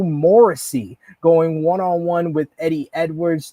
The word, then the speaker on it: Morrissey: Morrissey and Eddie Edwards.